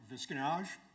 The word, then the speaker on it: Visconage: My name is Visconage. My last name rhymes with camouflage, if you'd like an appropriate veteran studies rhyme remembering aid.